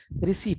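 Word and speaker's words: receipt: हम रिसिप्ट बोलते हैं लेकिन इंग्लिश में वहां पीस साइलेंट है इंग्लिश में उसको रिसिप्ट नहीं रिसेट कहते हैं तो साइलेंट लेटर्स बातचीत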